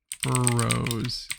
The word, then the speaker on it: Borough: This isn't how you pronounce it though. Why do they have it like this? Click the sound button. Burrow.